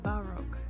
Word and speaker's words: Baroque: Okay, it's pronounced Baroque.